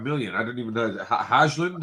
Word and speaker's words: Højlund: Hajlund, how do you say his last name? Rasmus Højlund.